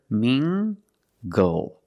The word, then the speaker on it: mingle: this word me mingle using the nasal sound and the hard G together mingle mingle mingle is a verb it